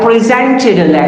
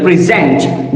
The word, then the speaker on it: present: So here the stress is over the first syllable.